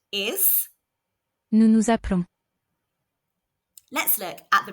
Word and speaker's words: nous nous appelons: An S at the end of a French word is silent except when it's followed by a vowel or a H. This means that the S on the end of the first nous is silent, but the second one is heard. There is also only one L in appelons, so the E is making an sound. Nous nous appelons.